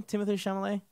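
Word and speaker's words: Timothée Chalamet: Timothy Chalamet.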